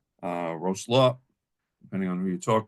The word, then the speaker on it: Wrocław: It's spelled W-R-O-C-L-A-W, but it's pronounced Wrocław. Wrocław, depending on who you talk to.